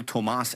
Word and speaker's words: Tomas: He pronounces his name Cole Tomas Allen.